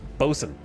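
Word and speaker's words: boatswain: And you get skill points in bosen, or as I like to say, botswain, because we can't just make words that are um nine characters long and ignore three or four of the characters.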